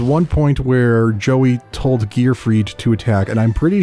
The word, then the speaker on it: Gear Freed: and I'm pretty sure he mispronounced his name and called him Gearfield. Huh? Gearfield. I wonder I wonder what his thoughts are on Mondays and lasagna. But yeah, it's Gear Freed, not Gear Field.